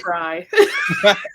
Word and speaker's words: Frey: I'll do the jerk thing and say it's actually Fry.